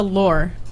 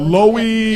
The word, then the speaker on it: Lore: Lore. Lore, okay. Like rhymes with door. I've been told Lowy. Yeah. I've been told lower.